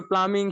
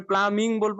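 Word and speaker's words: plumbing: স্যার ওযে পানির মিস্ত্রি প্লামং শিখাইলেন না যদি আমরা এটা মানে প্লামার প্লামার শিখাইছেন এখন আমরা যদি প্লাম্বিং করতে পারি তাহলে প্লামং বলব না প্লাম্বিং বলব প্লামং ওখানে প্লামিং বি উচ্চারণ আসবে না এটাই স্যার আচ্ছা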